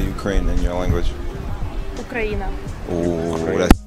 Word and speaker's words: Україна: Ukraina. Ooh, that's... Ukraina.